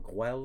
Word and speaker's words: Güell: So we started off the day at Parc Güell, or Güell as it's pronounced sometimes, Parc Güell, and we did a guided tour there, guided walking tour, and it was really quite nice.